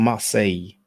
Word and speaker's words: Marseille: in a city called Marseille. You might be tempted to spell it Marcellus, but when there are two L's in French, we pronounce it as if it was a Y.